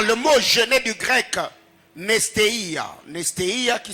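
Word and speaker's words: νηστεία: Car le mot jeûner du grec nestéia, nestéia qui s'écrit comme N-E-S-T-E-I-A, nestéia.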